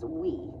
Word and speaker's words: Ouai: anyways it bought this you pronounce this we I come to find out um because I I was kind of oh oh you we then I looked online to see reviews and people all the young kids they know how to pronounce we I think that's how you spell we in French I don't know